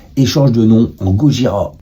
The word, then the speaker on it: Gojira: change de nom en Gojira qui est la prononciation de Godzilla en japonais en 2001